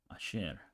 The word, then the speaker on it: ayer: Ayer means yesterday, and how you would pronounce it in places like Argentina is papaya, papagayo, ayer.